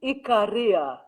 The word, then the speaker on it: Ikaria: should know is it am i pronouncing this right ikaria it's actually ikaria oh but there you